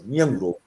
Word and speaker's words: Nyenwolo: And my name is they pronounce the way that the American way, but it's Nyenwolo.